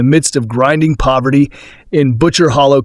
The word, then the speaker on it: Butcher Hollow: of grinding poverty in Butcher Hollow, Kentucky, pronounced by locals as Butcher Holler.